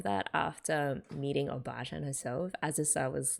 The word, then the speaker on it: Azusa: Azusa as well, who helped kick Yui's butt into